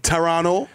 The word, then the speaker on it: Toronto: Took us to the Toronto. Don't pronounce that last T. Don't pronounce that T, dog.